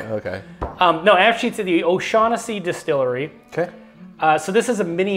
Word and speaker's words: O'Shaughnessy: bourbon now, but this is actually from the O'Shag Hennessy Distillery. Is that how it's pronounced? If you know, you know. Some people will get that joke. Okay. No, actually, to the O'Shaughnessy Distillery.